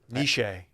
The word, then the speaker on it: Nietzsche: it in place of niche too so ernest nishi is how it's pronounced nietzsche i'm not a fan of the word dan